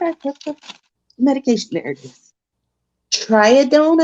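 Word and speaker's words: Tridione: put the medication narratives triadon i believe is how you pronounce it t-r-i-d-i-o-n-e it's also the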